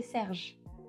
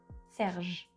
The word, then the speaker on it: Serge: You don't really pronounce the E. So we would say Serge, not Serge. See, Serge. And then we stop at that letter, at the J. Serge.